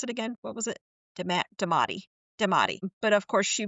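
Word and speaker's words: daemati: could have possibly been that how do you pronounce it again? What was it? Demati.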